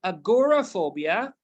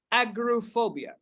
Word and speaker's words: agoraphobia: terms of pronunciation well this kind of phobia or this word particularly has two different pronunciation well it's either agoraphobia as simple as it is as you see it clearly or you can say agrophobia you can call it as agoraphobia it's okay and also you can